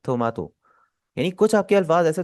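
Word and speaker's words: トマト: इसी तरह टोमेटो को हम क्या बोलते हैं? थोमातो।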